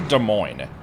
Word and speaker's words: Des Moines: No, we I I we went to De Moines, aka Des Moines, because you know, we have to spell it wrong.